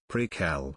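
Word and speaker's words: Prequelle: Or is it Prequel? Dude, it's pronounced Prequel. Couldn't watch it any further.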